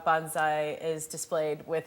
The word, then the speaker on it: bonsai: And I should tell you, Chris told me it's actually bonsai. Did I say it right? Bonsai. but- Because my whole life I've been calling it bonsai, and that's actually not So does right.